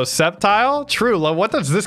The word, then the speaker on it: Sceptile: in the favorites baby skeptile pronouncers can burn oh Sceptile true love what does